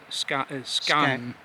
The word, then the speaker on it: Skagen: Scan. Scan. Scan. Yeah. Um it's spelled Skagan. Yeah. But it's Scan.